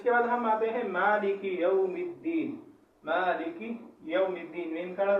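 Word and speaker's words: مالك يوم الدين: اس کا صحیح تلفظ کیا ہے؟ مالک یوم الدین، مالک یوم الدین. اس میں جو بعض لوگ غلطی کرتے ہیں مالکی، مالکی، مالکی آپ کرو گے تو وہاں کاف کے ساتھ یا پیدا ہوگی.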